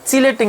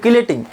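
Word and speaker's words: chelating: সর্বশেষ যেটা সেটা হলো তোমার কিলেটিং এজেন্ট বা চিলেটিং এজেন্ট। কেন চিলেটিং বলছি? বানানটা দেখছো, বানানটা কিন্তু সিএইসি কিন্তু চিলেটিং হয়, ঠিক আছে, কিন্তু বাংলায় কিন্তু কিলেটিং।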